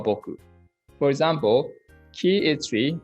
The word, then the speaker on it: 木: Kunyomi is ki, tree. Onyomi is moku or boku.